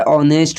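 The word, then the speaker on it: honest: तो आपको उसका जो साउंड है उसको देखना है। तो साउंड में क्या होता है? ऑनेस्ट होता है।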